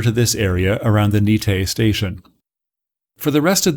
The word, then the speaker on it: Nikke: the area around nikkei nikkei was actually a western mispronunciation of the local thai name for the area nite the allied pows called